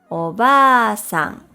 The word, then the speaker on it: おばあさん: If we add an extra vowel, a, to the middle of the word, it becomes obasan or grandmother.